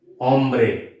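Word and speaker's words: hombre: For example this is ओम्ब्रे, डू not pronounce H is silent, ओम्ब्रे, ओम्ब्रे, यस, ओम्ब्रे means man, मैन।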